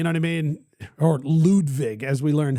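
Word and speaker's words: Ludvig: Or Ludwig, as we learned how to say it.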